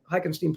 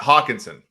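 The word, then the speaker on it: Hockenson: love the way Augustine hockenstein plays am I pronouncing that right yeah I think it's Hawkinson Hawkinson excuse me I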